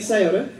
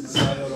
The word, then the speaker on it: Scioto: Scioto, Ohio. It rhymes. Scioto, Ohio.